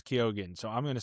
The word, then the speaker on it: Keoghan: All right, I always thought it was Keegan. But apparently, the actual Irish pronunciation is with the G and the H is supposed to make the G silent. It's supposed to be Keoghan or something like that.